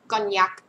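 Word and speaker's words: Cognac: คะ ชื่อ ยี่ห้อ มา กอน ยัก นะ คะ เสียง นี้ เสียง เย เ กอน ยัก กอน ยักษ มา หรือ กอน ยักษ โอเค นี่ ไง นะ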